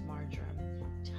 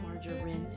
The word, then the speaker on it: marjoram: oil and there is marjoram totally different it's not margarine by the way it's spelled m-a-r-j-o-r-a-m so yeah this person